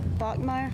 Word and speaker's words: Bachmeyer: Bachmeyer? Oh. Don't spell it like it sounds, right? If you're gonna call it Bachmeyer, why don't you just pick B-A-C-H or...